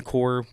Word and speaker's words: Corps: Why do we call it Marine Corps when it's spelled with a P and an S? I know they're silent letters, but what what are we doing?